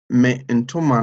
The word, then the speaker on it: me ntoma: And the first two words, we pronounce it as if it's one word. So there's no break in between. Okay, so we say men toma.